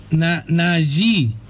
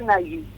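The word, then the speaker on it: Nagy: Nayi. Sí, pero se dice Nagui, o así es como, por lo menos así es como yo lo digo, no sé cómo.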